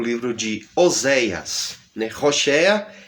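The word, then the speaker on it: הושע: o livro de Oséias roxea é o nome é hebraico deste personagem que nós é chamamos em português de Oseias né é um pouco diferente a pronúncia e também a escrita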